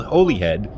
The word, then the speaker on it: Holyhead: It's spelled Holyhead, but it's pronounced Holyhead, apparently.